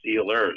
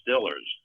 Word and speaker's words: Steelers: Well, a lot of them call them it's Steelers, obviously Steelers, but up there they call it the Stillers.